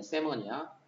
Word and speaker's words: salmon: 그리고 L이 발음이 안 되기 때문에 세먼이야. 여기는 이제 이게 복수야, 복수 지금.